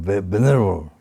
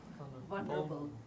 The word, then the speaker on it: vulnerable: You become venerable, not venerable. Vulnerable. Vulnerable. Vulnerable. But how do you say? Vulnerable. Vulnerable. Yeah, you go vulnerable, not venerable.